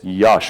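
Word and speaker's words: Iași: I'm not in lassi I thought the the capital I was a little L and I had no idea that the SR is pronounced sh so I now know it's Yash or Yash so is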